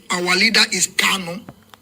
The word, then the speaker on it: Kanu: Our leader is not Carlo. Our leader is Kano. It's not Carlo, it's Kano. For some of you that always make this pronunciation, it's Kano, not Carlo.